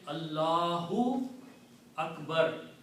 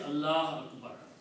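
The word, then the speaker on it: ٱللَّهُ أَكْبَرُ: So you have to say Allahu Akbar. You cannot say Allah Akbar. You cannot stop if the word is in the beginning or in the middle. Okay?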